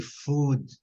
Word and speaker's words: food: vamos ver a pronúncia de food e good, para vocês verem aqui. Food, food. Tá vendo? Food. Um Uzinho assim, meio prolongado, né?